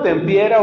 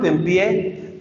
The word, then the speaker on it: Tempier: llama Esteban del pie se escribe tempier Esteban tempiera obismo en París cuando Tomás era maestro y Esteban tempié tendió sobre la enseñanza